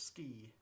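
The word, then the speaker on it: sgìth: Yeah, it's pronounced the same as to ski.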